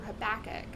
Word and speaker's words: Habakkuk: Actually, I usually read it on Sundays, but now in church we're going through Habakkuk. That's the actual pronunciation, guys.